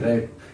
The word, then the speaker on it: wrap: Next वाला है WRAP रैप। W इसमें साइलेंट है।